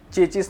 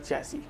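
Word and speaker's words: chassis: तो दोस्तों, यह जो सबसे पहला बात है, इसका मतलब होता है चेचिस नहीं होता। इसका मतलब होता है चैसी। बहुत लोग इसको चेचिस चेचिस बोलते हैं। So that's totally a wrong pronunciation.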